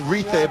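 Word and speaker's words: Reece: I said, you want to, Reese is how it's pronounced? He says, yes, it's Reese for sure. So I know my Fijian friends have been telling me that it's Rithe, but he wants to be called Sevu Reese,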